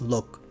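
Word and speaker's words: 六: practice the word six it's look spelled Lu K the K is muted at the end so don't sake please mimic my intonation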